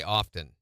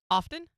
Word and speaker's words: often: I say often that I pronounce the T she goes that's weird often and I was like that's not weird that's correct she wanted to argue with me she goes no it's often I don't clean my